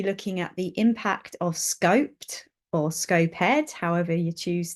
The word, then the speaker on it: SCoPEd: problem around pronunciation um I I refer to it as scoped by the way so